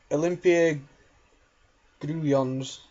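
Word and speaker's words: Olimpia Grudziądz: And I've just searched on Facebook for how Nick told me how to pronounce that name, and it is Olympia Gruyons.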